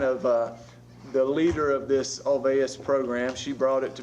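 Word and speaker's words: Olweus: If you see it, it looks like OLW is the way it's written, but it's pronounced Alveus.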